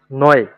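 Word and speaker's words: neu: 22 22 তো এটার উচ্চারণ হচ্ছে অয়ে।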